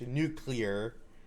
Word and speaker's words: nuclear: I pronounced the word it's pronounced nuclear nuclear nuclear but I added a syllable to that which annoy people um I will say